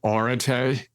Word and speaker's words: Areté: Yeah, I like to pronounce it Areté. It's debatable.